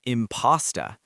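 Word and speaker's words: impasta: The answer is an imposta. Pause and say it with me. An imposta. An imposter. Yes. Listen carefully. The first syllable is stressed. Imposta. Also, it sounds like impostor.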